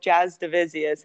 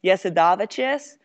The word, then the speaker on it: Jasudavicius: So that's why we go with Jasudavicius. But yeah. I do understand. I know it's actually pronounced Jasudavicius, or like, because I'm not married, it's actually Jasudavicute.